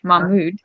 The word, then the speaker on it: Mahmoud: Okay, Mahmoud.